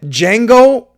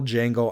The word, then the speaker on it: Django: we get we get D Jango meeting D Jango what's your name d Jango you know how to spell it the D is silent I know that's the